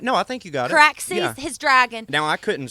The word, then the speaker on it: Caraxes: All of a sudden, Damon comes out of nowhere on, and I'm sure I'm pronouncing this wrong. Is it Caraxes? Correct. No, I think you got Caraxes, his dragon.